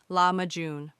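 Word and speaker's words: lahmacun: When people refer to Turkish pizza, they are most often talking about lamakun, pronounced lamajun.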